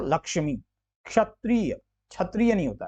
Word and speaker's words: लक्ष्मी: छ और क्ष, देखिए आप उच्चारण में आप लक्ष्मी, क का आ रहा है ना, लक्ष्मी क आ रहा है, तो ये जायज सी बात है, छ तो नहीं होगा, ये लक्ष्मी हो गया, तो लक्ष्मी।